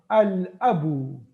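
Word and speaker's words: الأب: Lam is not pronounced. So ash-shamsu. Okay. Now here Hamza. Al-abu.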